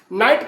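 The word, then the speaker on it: knight: नाइट का मतलब होता है यहां पे के साइलेंट है।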